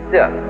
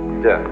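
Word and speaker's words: 德: Virtue in Chinese is de. We romanize it as T-E-H, de.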